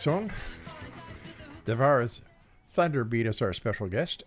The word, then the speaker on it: Devara: No, Devara. Devara. Think of Deborah.